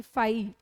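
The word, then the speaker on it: φ: ठीक है, इसका प्रोनाउंसिएशन जनरली फाई.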